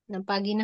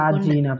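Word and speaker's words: pagina: ভাই পাজি না পাগিনা হবে না পাজি না পাজি না পাগিনা হবে না পাগিনা কে বলছে জি এর পরে জি এর পরে থাকলে জি হবে পাজিনা পাজি না আচ্ছা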